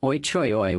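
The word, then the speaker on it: Ôi chời ơi: Thank you is pronounced Ga Mun. Another favorite amongst travelers is Oi Choi Oi, which means oh my god.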